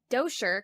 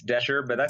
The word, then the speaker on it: Doescher: a very exciting guest with us today Ian Dosher correct is that how the last name is pronounced it's Dasher and Asher thank you so much for correcting